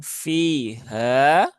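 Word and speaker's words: فيها: Huruf ha juga di sini ya, bukan di sini ya. Bukan di dada, bukan pula di tengah tenggorokan. Bukan fiha, bukan juga fiha, tapi fi ha.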